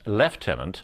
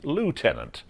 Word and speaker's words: lieutenant: Minister Tony Blair when he pronounced leftenant Lieutenant the American way then he began speaking